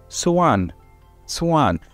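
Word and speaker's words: soğan: also have another word called let me say suan suan now suan means onion and this is actually so a-n so you don't pronounce the G you prolong the E after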